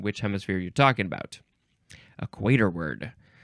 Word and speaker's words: equatorward: oh this is a fun and interesting word equator word equator word okay it is spelled equator Ward one this is one word equator and then w a r d at the end but it's pronounced equator word okay adverb or adjective from 1875 toward or